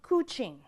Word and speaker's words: couching: go where it's wettest that's called kuching rhymes with smooching spelled like couching means to transfer from